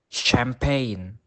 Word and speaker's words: champagne: Now, the letter G is usually silent in words such as sign, champagne.